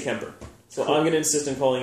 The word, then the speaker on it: Kuemper: to pronounce that improperly because there's clearly a you but they always say Kemper so hung an insistent